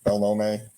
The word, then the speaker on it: Belnome: show so my name is uh bellome and uh you did pronounce it correctly and I'm branding